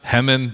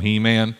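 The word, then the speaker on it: Heman: and his sons there's a guy named he-man probably pronounced hemen but i call him he-man it's spelled the same i have the power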